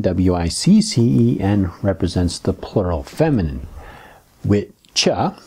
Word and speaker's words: wicca: Witcha, it's actually pronounced witcha, how we get modern witch from.